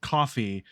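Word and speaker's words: Ko-fi: my if you say I think I think they do pronounce it coffee but if you say that no one understand like it just sounds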